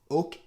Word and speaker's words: Hoke: I think they'll be pronounced Oke? I don't know. And Louis Amoeba. Thanks to Antonio for suggesting I look into Oke.